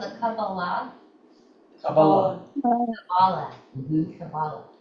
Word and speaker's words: Kabbalah: It's called the Kabbalah. Kabbalah. Kabbalah. Mhm. Kabbalah. Kabbalah is another pronunciation. Yeah, it's another present. I think there are about 3 different.